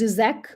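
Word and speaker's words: Žižek: Spivak's own work, that of postmodernists Slavoj However, it is pronounced Zizek, Baudrillard, and feminists like Butler created a movement in literary criticism, media studies, and philosophy.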